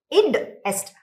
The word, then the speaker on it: id est: Id est.